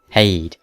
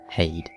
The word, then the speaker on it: Heide: wondering about pronunciation reference I'm going by sorden who calls it hay just thought I'd mention